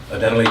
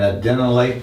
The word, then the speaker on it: adenylate: It binds a membrane receptor, and then that will activate an enzyme known as adenylate cyclase. And I would put little asterisks by that enzyme, adenylate cyclase.